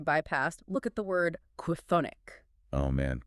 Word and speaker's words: chthonic: Try pronouncing a K sound, an H aspiration, and a TH sound in rapid succession right before hitting a vowel.